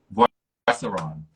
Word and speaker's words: Boisseron: Boisseron. Boisseron. B like boy, Oisseron. So French surname.